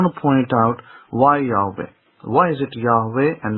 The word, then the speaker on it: Yahweh: Moses did not sit there pronouncing the name of God as Yehovah. I can guarantee you that. And I can tell you that here I have to give credit to the Christians, because the Christians did write about the name's pronunciation in the ancient times, post-destruction of the temple, and they did point out in some of their writings, or the historical writings, that the name was pronounced Yahweh.